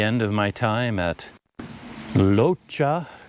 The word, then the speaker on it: Rocha: of my time at locha cafe spelled r-o-c-h-a so it looks like rocha but it's locha something like that yeah really nice place